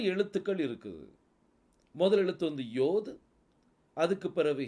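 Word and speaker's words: יה: right சைடுல என்ன இருக்குது யோதும் ஹேய் இருக்குது யோதும் ஹேயும் நீங்க எடுத்தீங்கன்னா அது வந்து யா அப்படின்னு சொல்லி உச்சரிப்பு வரும் அது யாருடைய பெயர் யெகோவா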